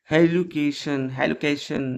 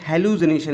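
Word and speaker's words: hallucination: तो ये है हेलुकेशन जो है। ठीक, बैकस ने पैनेथस को यह मतलब एक इल्यूजन दिया, हेलुकेशन है। तो बैकस ने हेलुसिनेशन इसे प्रोनाउंस करेंगे, हाँ सॉरी, हेलुसिनेशन।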